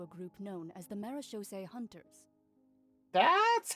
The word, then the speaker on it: Marechaussee: You may or may not have heard, but Fontaine once played host to a group known as the Marechaussee Hunters. That's how you pronounce that.